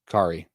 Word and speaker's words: Kahari: Kahari is pronounced Kari.